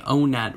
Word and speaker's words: Onett: believe it or not in early modern english the word one was actually pronounced much like the word own this means by technicality if you were to say o net was a town that